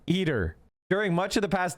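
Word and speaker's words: ITER: It became a key contributor to the 33 nation humor fusion experiment pronounced eater, sorry, eater.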